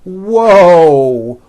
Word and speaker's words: whoa: I say that whoo there's a w sound at the beginning of that but there's also a hidden W sound at the end wo and my mouth is also very forward and tight whoo whoo whoo whoo